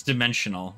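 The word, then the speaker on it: Dimenxxional: Dimensional. Yep. Yeah, that is how that is pronounced. It's dimensional. It's just dimensional like it would normally, but it's got 2 X's because it's edgy.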